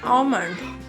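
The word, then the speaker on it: almond: बादाम की इंग्लिश है आमंड. यहाँ पे एल साइलेंट है, आमंड पढ़ना है.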